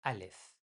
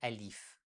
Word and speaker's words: Alef: In Persian, we say Alef. In Arabic, they say Alif, but in Persian, Alef.